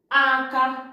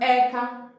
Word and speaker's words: aka: Number one is aka. Aka, hand. Aka means hand. In Nsụka, it is pronounced eka, eka.